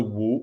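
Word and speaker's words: 武: for martial arts, the Wu in Wushu, is the same pronunciation as the Wu in Wudao, which means dance. So these two words, Wu and Wu, pronounced exactly the same but written differently.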